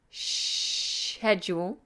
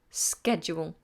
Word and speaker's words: schedule: if it's schedule then British English pronounce it Shh edge all and American English is schedule DF coat has asked